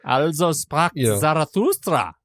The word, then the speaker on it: Also sprach Zarathustra: Also Sprach Zarathustra.